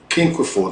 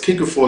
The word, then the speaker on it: cinquefoil: It's quinquefoil. There's quinquefoil. Let me spell it for you. CINQUEFOIL. CINQUEFOIL, or a patchouli incense.